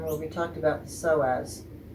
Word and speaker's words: psoas: we talked about the psoas so psoas is spelled first with a p p s o a s these psoas muscles that